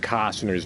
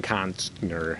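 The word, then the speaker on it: Costner: I think there was a lasagna cat where they mispronounced Kevin Cosner's name is Kevin Constner.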